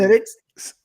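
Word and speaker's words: Smithwick's: Thank you for correcting the pronunciation of If Go I on. corrected it correctly, then Smittix.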